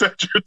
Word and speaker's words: Edgerton: It's Edgerton. God fucking damn it. Every week, guys, Chase will mispronounce a name.